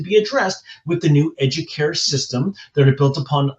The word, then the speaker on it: educare: Remember, educare is actually Latin, and it's pronounced educare, and it means to nourish or to elevate.